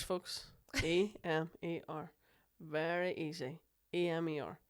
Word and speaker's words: Emer: I'm like, Emer rhymes with lemur. Yeah. Emer, lemur.